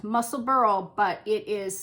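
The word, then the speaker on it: Musselburgh: Jane Flannery hi Jane um she recommended the muscle Burl hat and it is pronounced muscle Burl but it is spelled muscle Burger Burg at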